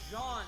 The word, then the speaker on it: Jean: Didn't say John, I said Jean. As in Jean. My name is Jean Valjean. Yeah, it's the French pronunciation.